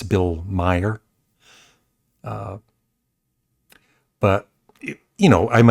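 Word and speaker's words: Maher: I said uh Bill Bill Mayer when that's Bill Meyer.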